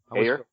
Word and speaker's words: Ayer: Hey, Justin, don't you love how, give me the proper pronunciation of David's last name. Ayer? Is it Ayer? I believe it's air, yeah.